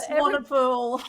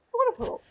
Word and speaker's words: Swanepoel: Swanepoel. Oh, is that how you say it? Yeah, no one ever gets it right. It's fine. Like swan in a pool. Swanepoel. Swanepoel.